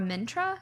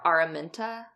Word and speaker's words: Araminta: I loved how Colin and what are a Myntra is that how you say her name are Araminta yeah I loved how they were portrayed like